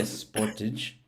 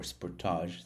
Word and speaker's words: Sportage: to leave their car, a Kia Sportage or Sportage, depending on how you want to pronounce it, Sportage.